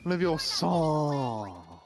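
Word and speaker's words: Logos: Guys, you're saying it wrong. It's Leos.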